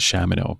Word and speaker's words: Shamino: sight in Ultimate 9 they pronounce it Shamano but I guess I've always said shimino since Ultima 4.